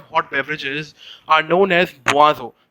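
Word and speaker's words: boisson: the sort of hot beverages are known as buazo b o i double s o n okay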